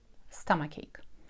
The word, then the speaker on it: stomachache: pronounce as "k" - stomachache. And mind that "o" is pronounced like "ah" - stomachache.